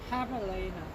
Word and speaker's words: javelina: Javelina, pronounced javelina. Oh, so is that sort of like Spanish, you know, where they can't say the J, but call it a H?